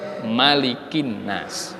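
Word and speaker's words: مَلِكِ النَّاسِ: Ketika kita membaca surah An-Nas sampai pada ayat Malikin Nas, tidak boleh maliknya dibaca panjang. Nggak boleh dibaca Malikin Nas, itu nggak boleh. Maliknya harus dibaca pendek, Malikin Nas.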